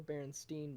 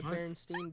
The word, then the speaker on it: Berenstain: baron stain bears or berenstein bears sorry what the berenstain bears is it berenstein or berenstain i've always heard it been pronounced berenstein please shut up anyways